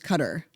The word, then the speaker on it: Qatar: Uh, that's so I want to make sure that's Qatar um that you heard pronounced cutter on Fox and Friends.